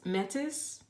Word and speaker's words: Metis: you received I believe her name is pronounced met Metis Metis she deals with wisdom